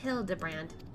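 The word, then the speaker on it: Hildibrand: It's pronounced Hild de Brand.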